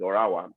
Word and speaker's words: Ottawa: I found out that Ottawa is not Ottawa, it's Orawa. I'm so happy for them. I don't know why the two T is silent, but I'm happy for them, And I just imagine myself.